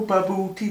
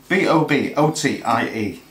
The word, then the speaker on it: bobotie: Oh, ba-boor-tea, ba-boor-tea. Yeah, don't tell me what it's called. How do you spell it? B-O-B-O-T-I-E.